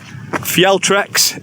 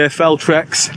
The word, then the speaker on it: Fjeltrex: Fjeltrex is the correct way, but most people say Feltrex.